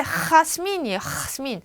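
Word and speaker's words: Jasmín: 그래서 제 이름도 하스민인데 하스민이에요. 하스민 아니고 하스민.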